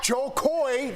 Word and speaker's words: Jo Koy: joy did you enjoy joe coy joy it rhymes all right so far